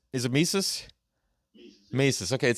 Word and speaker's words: Mises: Mises.